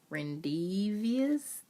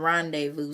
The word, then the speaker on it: rendezvous: Rendezvous?